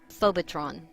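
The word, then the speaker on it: phobetron: It is phobotron, pronounced phobotron, according to Strong's G 5400.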